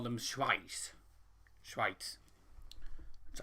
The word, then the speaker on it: Schweiz: he's saying in germany to call them schweiz schweitz that's how you pronounce it what do you have english football